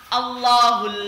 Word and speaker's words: Allah: Contoh di awal kalimat Allahul ladzi. Nah, itu kan Allahnya, alam jalalahnya dibaca di awal kalimat, maka bacanya Allah. Dan dibaca tafkhim Allah. Atau di setelah harokat fathah. Contohnya subhanallah. Subhanallah. Lohnya itu tebal.